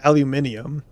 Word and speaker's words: aluminium: UK audience fans because you guys say aluminium. And I always thought it was like funny because it's it sounds so different. And then I I realized why you guys pronounce it because your aluminum is spelled different. Yours is actually spelled aluminium. They put another I aluminium. I was like, "Oh, that's why I pronounce it differently cuz you have it literally spelled differently over there."